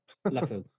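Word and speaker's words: Liufau: Just to add to the linebacker pick, if there's one thing about how do you pronounce his name? LaFou.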